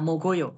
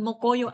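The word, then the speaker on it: 먹어요: Oke, coba satu lagi aku menggunakan kata mogoyo. Gimana kamu bacanya? Bukan mokoyo, astagfirullahaladzim. Iki sapa sing ngajari? Bacanya mogoyo, yuk. Heeh, bacanya gitu ya, mogoyo, bacanya memang begitu ya, jangan dibaca moko ya, mogoyo.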